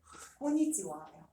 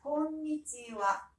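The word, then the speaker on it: こんにちは: 우리 일본에 만날 때 인사가 konnichiwa 이거 처음 들어봐요? 아니 들어보는데 들어봤죠? 사실은 한줄 알죠. 아이고, konnichiwa예요. 자, 그럼 다시 정정해서 읽어볼게요. 합니다. konnichiwa.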